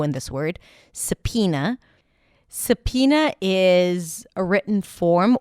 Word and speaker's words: subpoena: You start with an S sound, then a schwa, sa, then P as pizza.